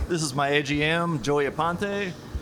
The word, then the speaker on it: Aponte: This is my AGM, Joey Aponte. Ipante is how you say it last?